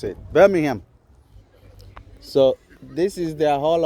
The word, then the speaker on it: Birmingham: They say um it's called um Birmingham Birmingham. That's how the locals pronounce it. Birmingham.